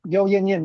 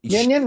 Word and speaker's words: Yeo Yann Yann: But Yeo Yann Yann, is that Oh, that's my good friend, Yeo Yann Yann. Yes. Yin Yin? Yan Yan, it's yeah.